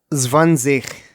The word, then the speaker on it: zwanzig: and it is pronounced. 20. Zwanzig.